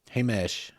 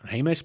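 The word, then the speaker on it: Jemez: is in modern day Hesh peblo Hesh peblo is it's spelled j MZ and it looks like Himes which is probably how it was pronounced by the Spaniards that came through at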